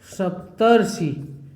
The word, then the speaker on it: सप्तर्षि: ये क्या हो जाएगा अर आएगा उच्चारण में, तो संधि इसका क्या होगा सप्तर्षि। आप बोलने का प्रयास करेंगे तो उच्चारण में जो है अर आएगा सप्तर्षि।